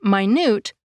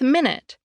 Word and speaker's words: minute: For example, compare the word minute with minute. These two words are spelled exactly the same but have different meanings.